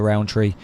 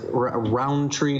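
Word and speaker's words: Rountree: Do you pronounce the D? Yeah. Everyone goes Roundtree. I think it's Roundtree. No. Is it Roundtree? Like I don't know how much you accent the syllables. There's no even D.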